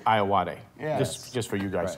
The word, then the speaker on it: Ayoade: I own up like I always say it wrong but yeah that but the correct pronouncing is I awadhe yes just for you